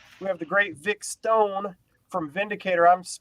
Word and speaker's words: Stown: First of all, we have the great Vic Stown from Vindicator. I'm pronouncing that correctly, right? Yes, perfect. Stone, yes.